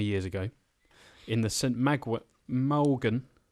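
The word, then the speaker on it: Mawgan: Malgan. We have some great pronunciations. M-A-W-G-A-N. We're struggling more with that than the French town or the Vietnamese. Malgan. M-A-W-J-N. Say Malgan? I still say that's Morgan. Morgan.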